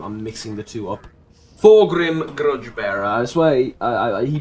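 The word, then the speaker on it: Thorgrim: thorm thing Thor Thor Thor Grim Grudge bear Thor Grim Grudge Bearer it's not difficult to pronounce and remember Thor Grim it's like Thor but he's Grim Thor Grim Grudge Bearer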